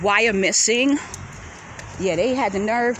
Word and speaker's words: Wyomissing: for a stroll through this area is called wire missing yeah they had the nerve to keep the native american names so it's spelled w-y-o-m-i-s-s-i-n-g why are missing pennsylvania they have a lot of native american